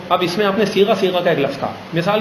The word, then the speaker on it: صیغہ: پہلے تو اس کے تلفظ صاد یہ غین اور ہا صیغہ کہتے ہیں.